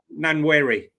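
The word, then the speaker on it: Nwaneri: Nweri. Nanwary. Nanwary. Okay. Nan Nanwary. Okay. This is for me. Nanwary is the echik tik for of you.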